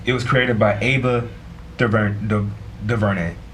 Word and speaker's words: DuVernay: It was created by Ava DuVernay. DuVernay, yeah. I think that's how you pronounce you, Ava.